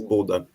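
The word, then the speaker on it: Bodø: excuse me can you can you tell us the the exact pronunciation of bordeaux i'm a bit yeah because normally the team is the both names buddha and glimpse yeah the city is buddha but buddha glimpse yeah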